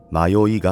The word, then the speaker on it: 迷い家: Written as "迷い家" and pronounced as "Mayoiga", it refers to a mysterious house deep in the mountains, a phenomenon known in the Tohoku and Kanto regions.